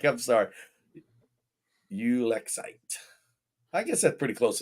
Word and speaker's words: ulexite: Ulexite. I guess that's pretty close to the same thing. I just break it into three syllables.